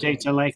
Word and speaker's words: Sudetenland: He made the Munich Agreement, so allowed Germany to annex the Sudetenland. How do you pronounce that? Anyway, I can read it, but I always Sudetenland, I think. Sudetenland, thank you.